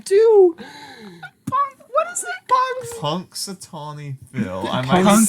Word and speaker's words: Punxsutawney: You know, It's spelled punks as in Punx, Punx. Sutawney.